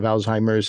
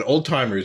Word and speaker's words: Alzheimer: grandfather had Alzheimer's disease, Alzheimer's. I'm like, well, that's not quite the pronunciation. I don't think the German was the Z turns into a T. So I think some people confuse it about that.